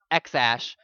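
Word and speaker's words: X Æ A-12: and it's like x-a-e-12 how was it pronounced x-ash and i'm over here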